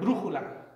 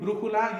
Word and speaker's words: brújula: So with your palabras esdrúculas, you always accent on the third to last syllable from right to left. So we have the word brújula. So we have brújula. And when you say the word all the way through, brújula, you'll notice that the third syllable is the one that has the most emphasis.